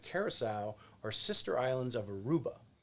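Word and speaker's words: Curaçao: a great diving spot bonaire and if i pronounce it right curacao are sister islands of aruba so that that's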